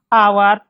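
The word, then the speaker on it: hour: for more than 16 आवर अ डे वह काम करता है कम से कम 16 घंटे एक दिन में वह काम करता है ठीक है ये एच यहां पे साइलेंट है इसको हम और पढ़ेंगे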